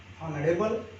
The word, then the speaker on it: honorable: Honorable man, honorable person, here also H is silent, that's why an.